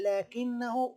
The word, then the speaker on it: لكنه: طائر البطريق لا يطير، ولكنه، خلي بالنا حبايبي في الإملاء، لكنه فيها حرف الألف نطق ولكن لم يكتب.